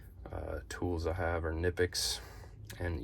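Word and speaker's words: Knipex: tools I have are nippi and yes I do say it that way I don't feel like there should be an extra syllable for just a Kay um love these love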